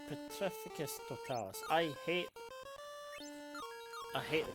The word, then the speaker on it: Petrificus Totalis: Pacificus. No. What the peticus totalis? All right. Petrificus totalis. I hate I hate the pronunciation of some of the spells in this game or in general.